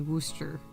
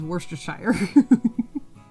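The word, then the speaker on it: Worcestershire: This is a lot like when he was trying to teach me how to say worooster worooster worooster worooster sauce instead worstershire.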